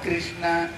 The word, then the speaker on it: कृष्ण: बोले नाम तो बड़ा अच्छा है लेकिन जो कृष्ण नाम, जब तक ये जीवा तीन बार टेढ़े नहीं हो जाते ना, देखना ये जीवा ये कृष्ण नाम नहीं उच्चारण होता है, इसलिए तू टेढ़ो तेरी